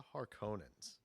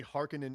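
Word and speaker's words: Harkonnen: all right about the har conans yes the Harkins apparently hekinan is the actual correct pronunciation which bugs the out of me because I grew up saying har Conan yeah um those are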